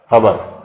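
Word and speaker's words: ख़बर: In Hindustani word, final schwas get deleted. In addition to that, schwas between two syllables also get deleted. For example, the word for the piece of news is XABAR, XABAR, khabar. In the plural, it is XABREN, khabaren.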